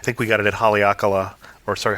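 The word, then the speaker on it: Haleakalā: we got it at hakala or sorry hakala national park because we learned from the Rangers that the line of the last a means it's a long a then when we went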